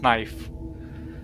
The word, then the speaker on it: knife: No, it was the 1920s, and the thing is that um, even knife was pronounced in older English text as knife because the K was more accentuated in pronunciation back then.